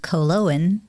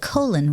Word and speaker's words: Koloen: no and um actually it's supposed to be pronounced cologne because it's a Scandinavian name that's somewhere in my my husband's family they decided that colon was best and I